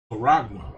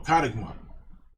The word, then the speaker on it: charagma: So like I should have said charagma, okay? That's how you say this word M-A-R to the K. Say that charagma in the Greek, or karagma. How the little dude pronounces it in the blue letter, karagma, right?